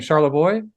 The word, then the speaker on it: Charlebois: Charl Boy.